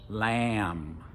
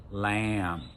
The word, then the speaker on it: lamb: an M, like in lamb, lamb. We don't pronounce the B.